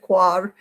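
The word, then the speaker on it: coir: the peat you can use core some people pronounce it quad i guess that's more french c-o-i-r and in place of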